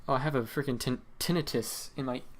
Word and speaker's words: tinnitus: I think, yeah, so on submit, oh, I have a freaking tinnitus in my right ear right now.